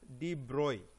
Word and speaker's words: de Broglie: And a scientist, Louis Victor de Broglie, even though his name is spelling is this B-R-O-G-L-I-E, it is pronounced as de Broglie. Okay, Louis Victor de Broglie.